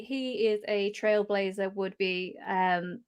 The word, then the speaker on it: Behr: um just remember uh my last name is weird uh because it looks German but is actually pronounced be um apologies yeah um but uh and it's not the animal um that would be bar um but uh yeah